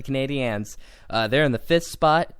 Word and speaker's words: Canadiens: Every time you say it, I'm just like, Canadians. You have to say the Canadiens.